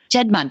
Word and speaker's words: Juddmonte: Juddmonte Farms.